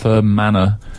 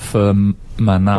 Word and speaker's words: Fermanagh: We've also had quite a few texts correcting my pronunciation of Firm Manor. Oh, yes. Firm Manor, not Firm Manor. What did you call it? Fermanagh? Fermanagh.